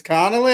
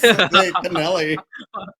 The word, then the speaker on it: Connelly: this movie Jennifer Connelly it's Connelly always always canelli what the world like a can like a canoli I thought this episode